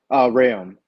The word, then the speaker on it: Reaume: Is it Reaume? Is that how you pronounce it? Reaume. Reaume. So the E is kind okay. of silent, yeah.